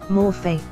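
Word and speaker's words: μορφή: Transliteration, morph. Pronunciation, morphe.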